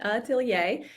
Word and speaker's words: atelier: is ntier now that we know how to pronounce it aier and that's actually why I called the boot